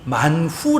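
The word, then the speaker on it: מן הוא: 이름이 되어져 버렸어 여러분 맞나 라고 하는 말의 히브리 발음이 만 후 라고 하거든요 만 후 이게 이것이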